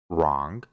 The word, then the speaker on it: wrong: después tiene una r solo Vamos a pronunciar la r y no vamos a pronunciar la W por ejemplo wr que significa escribir wrong que significa correcto Rest